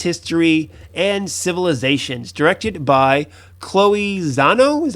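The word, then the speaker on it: Chloé Zhao: and shaped its history and civilizations directed by chloe zano is how you say her name let's see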